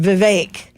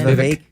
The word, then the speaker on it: Vivek: I have to say, I've heard it said Vivek now. Yeah. That's the pronunciation. Vivek. What does he say? I think he said Vivek, if I'm not mistaken. He says Vivek.